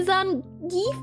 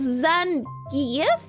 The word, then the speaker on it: Zangief: And while 90% of the players say Zangief, his name is pronounced Zangief.